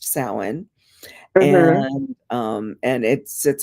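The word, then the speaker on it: Samhain: s m h a i n but it's pronounced sin and um and it sits across the Wheel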